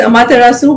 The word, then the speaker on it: Amaterasu: getting the pronunciation correct yeah it's amaterasu which is actually a japanese word okay and it is